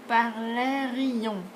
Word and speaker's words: parlerions: So you're listening for nous parlerons versus nous parlerions. So remember, you're listening more, well, you're listening for the I. Okay, so it adds another syllable.